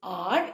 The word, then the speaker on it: hour: This is R, H is silent, whereas in this half, you can hear the sound of H.